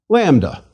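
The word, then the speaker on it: λάμδα: Lambda. Lambda is equivalent to L and pronounced like the L in language.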